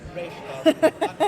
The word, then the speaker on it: Ra's al Ghul: This show, you did the Ra's al Ghul, Ra's al Ghul line in Batman Beyond, where you have Talia correcting. Actually, it's Ra's al Ghul, a common mistake.